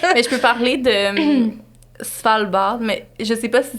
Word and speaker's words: Svalbard: Mais je peux parler de Svalbard, mais je sais pas si c'est comme trop loin pour...